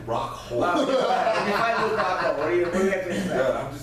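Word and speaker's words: Rockhold: you're mispronouncing his name. It's Rockhole.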